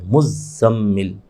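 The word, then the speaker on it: مزمل: पर भी तजी है मुजम्मिल अब चूंकि यह मुजम्मिल इस तरह मुजम मुजम्मिल मीम पर तो पढ़ लेते हैं ज प नहीं पढ़ पाते तजी तो गलत मशहूर हो जाता है मुज स्पेलिंग भी ऐसी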